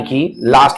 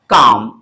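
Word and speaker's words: calm: इसे काल ना पढ़कर काम आपने सुना होगा कीप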